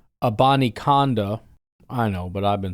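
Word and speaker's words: Abanikanda: The Green Bay Packers have added Israel, and then they say how you're supposed to say it, Abani Konda.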